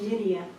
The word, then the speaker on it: Nydia: My name is Nydia. It rhymes with Lydia, but starts with the letter N.